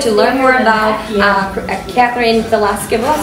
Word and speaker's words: Veleska: And you guys, if you have any additional questions or would like to learn more about Kathryn Veleska, I'm saying it right? Veleska, okay, yes. V-E, that's the trick.